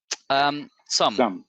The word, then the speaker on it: Xumm: One very important: how do you pronounce XUMM? Did I do it right? XUMM.